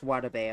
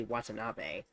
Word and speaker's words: Watanabe: Erika says she can ask Watabe about it, and Monami gets confused before realizing she's saying her boyfriend's name wrong, and it's actually Watanabe.